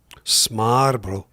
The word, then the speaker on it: smørbrød: But this is sort of an approximation of smørbrød, Smarbro.